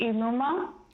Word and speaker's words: I Luma: So it's pronounced I Luma. Okay. And it's a directional phrase meaning in front. And the language is Samoan, and I have Samoan heritage.